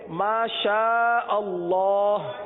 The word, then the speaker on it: ما شاء اللہ: آج جو ذکر لیں گے وہ ہے ما شاء اللہ. 3 مرتبہ دوہرا لیجیے، ما شاء اللہ، ما شاء اللہ، ما شاء اللہ، ما شاء اللہ.